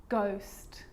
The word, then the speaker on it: ghost: occasions it's not pronounced the H is silent so it's choir choir echo echo with a g-ghost ghost and with an R